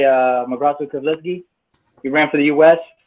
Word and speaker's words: Keflezighi: The Tigrinya name is pronounced Mabrato Keflezighi, but in the States they say Mo Keflezighi.